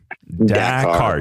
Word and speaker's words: Dakar: Well, that's the, for those playing the home game, that is the official pronunciation of Dakar. Dakar. D-A-K. D-A. I feel like it should be hyphenated. A-A-R. It is D-A-K-A-R.